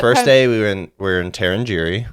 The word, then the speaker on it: Tarangire: Yeah, But first day we were in Tarangire. Tarangire, which we're definitely saying wrong.